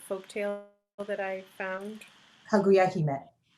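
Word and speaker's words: Kaguya-hime: And Airi, will you please pronounce the name of the folk tale that I found? Kaguya Hime.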